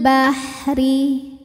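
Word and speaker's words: البحر: izhar qomari shidul Bahri huruf ro dibunyikan secara tarqik karena RO harakatnya di bawah yaitu harakat kasrah cara membacanya adalah lo dibunyikan dengan tipis lidah rileks pangkal Lidah Tidak perlu naik ya Ri ringan shidul Bahri wa tha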